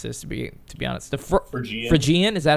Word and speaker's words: Phrygian: The Phrygian, is that how you say it? The Phrygian cap. Phrygian, thank you, Chris.